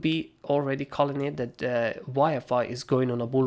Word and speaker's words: YFI: gain over this area jfi would again wi-fi sorry again i pronounced it wrong wi-fi would actually again go